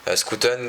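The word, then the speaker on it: Schouten: Mais moi, il y en a un qui m'a beaucoup impressionné, c'est Scooten, pardon. Faut prononcer à la néerlandaise. Scooten m'a beaucoup impressionné dans la relance, dans sa vision de jeu.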